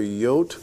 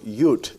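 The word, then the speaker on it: יוד: at the letter yot, which can be pronounced either yot or yut, depending upon your tradition. Actually, most Jews today, JR, pronounce it yut, but for some reason you and I have adopted the first pronunciation, which is yot.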